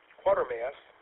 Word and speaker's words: Quatermass: And Tom, I give you excellent marks for pronouncing quarter ma or quarter mass without a uh an R before the T.